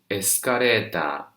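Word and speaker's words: エスカレーター: below the escalator and we say escaretta in japanese it's also japanese english the next one stop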